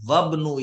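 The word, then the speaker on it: وابن: कोई वर्ड आ जाए तो फिर ये अलिफ साइलेंट हो जाता है। ये साइलेंट का निशान है जो इस तरह बना हुआ है। यानी उसको नहीं पढ़ा जाता।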